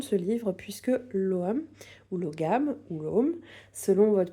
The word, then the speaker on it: Ogham: Alors je le prononce à la française ici. Il y a 2 prononciations possibles. Donc il va y avoir soit l'Om, donc ça va être vraiment plutôt la prononciation en anglais archaïque, en irlandais archaïque, pardon, ou bien Loam, qui va être plutôt la prononciation en irlandais moderne.